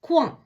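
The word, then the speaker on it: coin: சே ஓ இ என், குவான்.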